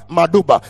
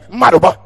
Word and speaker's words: Madoba: Because if I pronounce it the Ugandan way, it will sound Maduba. But here, Madoba.